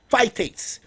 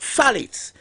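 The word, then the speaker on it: phthalates: There's something called phalates. Some people um um pronounce it fitates, but salates it's spelled P H T H A L A T E S.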